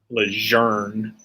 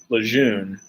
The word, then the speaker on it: Lejeune: Like when I got out, I had to fly in from Greece to Lejeune. It's Lejeune. It's Lejeune. His grandkid was in fucking 5th Marines, and he pronounces it Lejeune.